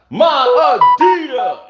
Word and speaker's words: Adidas: there and dmc song they don't say my adidas send me they say my adidas there's no s in that pronunciation my adida so we